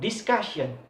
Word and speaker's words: discussion: And then next, for example, in word ending in tion, in word discussion. When articulate discussion, the second syllable have a stress.